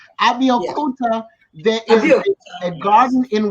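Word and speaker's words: Abeokuta: Abiakuta.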